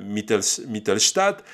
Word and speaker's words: Mittelstadt: Ça présente l'expertise de leur inspecteur, de leur enquêteur qui s'appelle Mittelstadt. Je vous le prononce à l'allemand, Charles Mittelstadt, qui donc